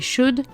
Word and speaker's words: should: Notez au passage la prononciation de would et should, le L ne se prononce pas.